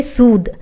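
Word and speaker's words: suede: आप देख सकते हैं द के बाद ए लगा हुआ है तो इसे आप ए की मंत्र नहीं पढ़ेंगे इसे आप सीधे नहीं पढ़ेंगे इट्स सुद ओके इसका प्रनंसीएशन शुरू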